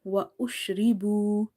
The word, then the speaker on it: وَأُشْرِبُوا: In the word boo, we have stretched the letter waw because if waw is silent like sakin and you have to there is a dhamma before it, then you have to read it by stretching up to one alif.